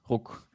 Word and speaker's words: Ruck: So at Ruck, RUCK. Like props to you pronouncing that in proper German.